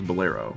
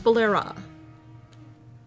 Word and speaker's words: Bolera: That was Bolero. No, it's Bolera. Oh. Yeah, it's Bolera. A.